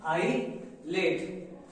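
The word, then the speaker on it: ILATE: तो इसके लिए हम एक पैटर्न यूज करते हैं जिसका नाम है बेटा, जिसको हम प्रोनाउंस करते हैं क्या, आई लेट, क्या प्रोनाउंस करते हैं, आई लेट।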